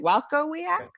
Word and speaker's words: Walkowiak: Walkowiak. You say it like that with the with the pauses and everything. That's it. Yes. Well, that's Polish, I believe.